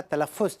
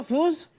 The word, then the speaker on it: तलफ़्फ़ुज़: पहले मैं आप लोगों का तलफ़्फ़ुज़ चेक करना चाहता हूँ। फ्यूज चेक करोगे? फ्यूज? अबे फ्यूज़ नहीं, तलफ़्फ़ुज़। तलफ़्फ़ुज़ मतलब प्रोनंसिएशन, उच्चारण।